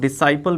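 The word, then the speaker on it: disciple: Swami Vivekananda was उनके शिष्य, यानी कि हिज डिसिपल, और इसको कुछ लोग डिसाइपल भी प्रोनाउंस करते हैं।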